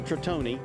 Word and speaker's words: Tritone: He made other models, but this particular boat, it's an Italian word, so Tritone is the correct pronunciation.